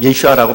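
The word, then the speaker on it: ישוע: 예수님의 이름이라고 하는 그 예수라고 하는 이름이 히브리어로는 예슈아라고 하는 뜻을 가지고 있고 예슈아라고 발음을 합니다.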